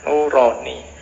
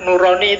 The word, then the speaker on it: Nurani: apa bahasa jawo ya kalau bahasa jawo kan bacanya o jadinya nuroni atau bahasa Arab Kalau bahasa Arab Nurani itu bagus dua cahaya